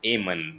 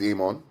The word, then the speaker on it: Eamonn: do I call you aan because technically it's aan but everyone calls you Amon so it's a